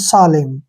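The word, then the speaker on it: solemn: उच्चारण यहां नहीं होगा जब भी एम के बाद एन आता है तो एन का उच्चारण नहीं होता है इसको पढ़ेंगे हम सालेम ठीक है ना आपने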